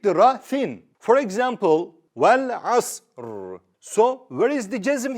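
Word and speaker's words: والعصر: Because of this, we have to pronounce the Ra thick. Wal asr. You see? Wal asr. You see? I read it thick.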